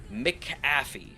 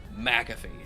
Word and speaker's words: McAfee: that was so dumb the guy's name is spelled MC a f e in my book that's mcy but everyone including John McAfee pronounces his name McAfee I'm like dude I